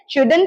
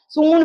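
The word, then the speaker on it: shouldn't: शुड not have बोलेंगे, पर इसको आजकल बोला जाता है शुडंट हैव या शुडंट हैव। मॉडर्न प्रोनाउंसिएशन है शुडंट हैव। अब ये आपको हो सकता है बोलने में थोड़ी प्रॉब्लम हो, पर प्रैक्टिस करेंगे तो आराम से शुडंट हैव, सूंड मत कर दीजिएगा हाथी वाला, ये शुडंट हैव है।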